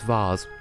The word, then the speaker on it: vase: If you want to pronounce it properly, Heartbeat, it's vase. There is no but. Well, that's because you're American. And America is wrong. You're all spelling it wrong. It's either V-A-Y-C-E or V-A-H-Z.